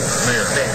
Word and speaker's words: Meyer: We will move on to a report from one of our student regents, Meyer, am I pronouncing it? Mayer.